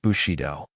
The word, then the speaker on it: Bushido: Pronounced Bushido.